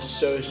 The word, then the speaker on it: Tso: I think the T in General Tso's chicken is silent.